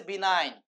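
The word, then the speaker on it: benign: Of word বিনা এটা কিন্তু বিগিন না ভাই। অনেকে বিগিন উচ্চারণ করে ফেলবে শর্টকাট করে। এটা হচ্ছে বিনাইন বিনাইন বি ই এন আই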